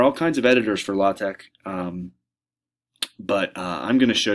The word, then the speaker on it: LaTeX: and editing tool called la tech it's spelled la te X but it's pronounced la Tech and it allows for